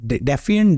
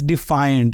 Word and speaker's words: defiant: what it meant I didn't know how to pronounce it so I actually asked one of the uh editors I'm like word defant defant it's like it's defiant and it means this and and then you